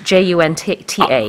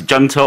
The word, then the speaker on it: junta: there's a few yeah i think junta is is what we use more in the in the uk it's we say both right yeah we can pronounce janta or junta both are acceptable it's gonna be depending